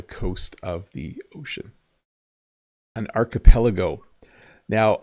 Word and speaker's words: archipelago: An archipelago. Now, I used to pronounce this wrong. Even English speakers sometimes say words wrong, but it's archipelago.